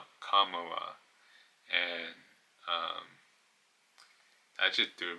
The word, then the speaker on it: Kamala: book she wrote that the proper pronunciation of a name is comma like the punctuation um Kamala so it's not Kamala it's Kamala and um that just